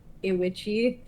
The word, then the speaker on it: IWICCI: that I have been pronouncing it Iwichi because that's phonetically what it would sound like. It is. It is. Like fettuccine. Fettuccine. I love fettuccine. IWICCI.